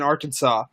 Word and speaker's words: Arkansas: It's in Arkansas. Which, by the way, side note, I don't know why it's called Arkansas when it's spelled Arkansas, but that's a different story.